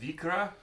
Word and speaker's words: Vikre: I think it's pronounced Vikre. Yeah, we looked it up. It says Vikre. It literally says right there.